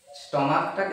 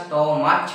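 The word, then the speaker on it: stomach: স্টমাকটাকে আমরা কি উচ্চারণ করি, স্টমাক করি না স্টমাচ করি? নিশ্চয়ই ক উচ্চারণ করি তো, স্টমাক, তাই তো? এই লাস্টে আমার ক আসছে তো না, ক উচ্চারণ আসছে শেষে আমার, বা কে এর মতো আসছে।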